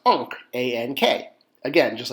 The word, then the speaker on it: ankh: And shocker, it's pronounced Ankh, A-N-K. Again, just like the previous one was A-H-A. So that's Ankh.